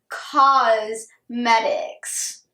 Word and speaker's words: Causemetics: the owner of thrive cause medics not cosmetics as in Co us but cosmetics as in ca us e as in she's fighting